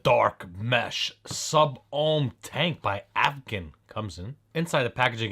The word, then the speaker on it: Advken: it's the D is silent or the K is silent, blah blah blah blah. Advken, that's what I call it.